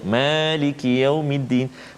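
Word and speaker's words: مَالِكِ يَوْمِ الدِّينِ: Kita baca Maliki Yaumiddin dengan dua harakat. Panjang sikit, Ada sahabat-sahabat kita di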